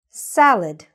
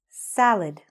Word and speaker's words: salad: The next word, salad. Salad. Okay? The stress is on the first part.